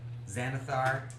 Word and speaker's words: Xanathar: Xanathar Guild and the Zentarum.